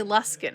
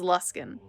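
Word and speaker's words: Luskan: but like there's like the town of luskin l-u-s-k-a-n and I thought it was less gone but other people say luskin because some random guy at ever at least in this game says luskin and I'm like fine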